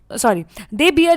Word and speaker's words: bear: They Brunt the they बियर the Brunt of violence. ठीक है, दे बेयर the Brunt of violence. बहुत जन इसको बियर पढ़ते हैं, बट प्रोनाउंसिएशन क्या होता है, बेयर द ब्रंट ऑफ।